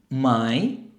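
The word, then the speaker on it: Mai: ভিন্ন আফিল আপল এরপর মে যেটাকে আমরা বলব মাই তাহলে হবে মাই তারপর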